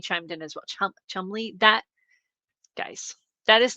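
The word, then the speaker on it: Cholmondeley: Um, it's pronounced like the town and then it's said as Chumley. And then Daffhany chimed in as well. Chum Chumley.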